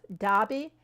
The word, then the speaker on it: Derby: How do you say Derby?" She goes, "Dobby." He said, "See, I told you it was Dobby." No, it's not Dobby. You say both.